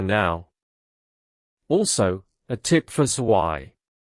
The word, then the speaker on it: zwei: Also, a tip for Zwei. When Germans are on the phone or in a noisy place, they sometimes say Zwo instead of Zwei because Zwei and Drei can sound similar in bad audio.